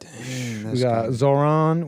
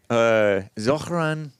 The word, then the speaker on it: Zohran: We got Zohran. We got You're mispronouncing it, man. Zohran. Before we get back to the calls, it's Zohran.